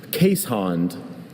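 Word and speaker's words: Keeshond: Casehond.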